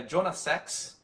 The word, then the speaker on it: Jonah Sachs: O nome do autor é Jonah Sachs, tá? Então é Jonah com H no final, Sachs, S-A-C-H-S, tá? Essa é a pronúncia do inglês.